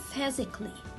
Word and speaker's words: physically: not read it physically no it's physically so here letter a is a silent letter why because it comes at the word ending with l-l-y so i will read